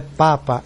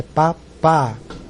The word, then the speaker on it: Papa: Não é papa, é papá, certo? Então a pronúncia correta do P é pá, pá.